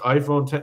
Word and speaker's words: iPhone X: I'm not that guy who's like, actually, Apple says it's pronounced iPhone 10, because Apple's wrong about a lot of things.